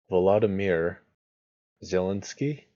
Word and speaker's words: Volodymyr Zelensky: Volodymyr Zelensky, I believe is how that's pronounced, wins the Ukrainian presidential election.